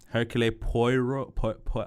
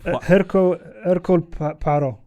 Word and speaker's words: Hercule Poirot: Hercule Poirot. Hercule Poirot. Poirot. Yeah. Hercule Poirot, yes.